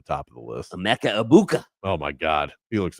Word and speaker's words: Egbuka: You think the G is silent? Egbuka? I think it's in fact, I went on YouTube the other day and listened to some calls, and I think the G is silent. I think it's Egbuka, Emeka Egbuka. Speaking of YouTube, we are